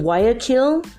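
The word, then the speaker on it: Guayaquil: the day of Independence of the city of Y akin and that spell GU a Y a Q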